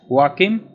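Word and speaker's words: Joachim: First Time by German neurologist Wakim boder so J is silent and this was done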